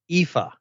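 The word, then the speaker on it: Aoife: you phil and i've figured out how to pronounce uh ifa that is how you pronounce it and and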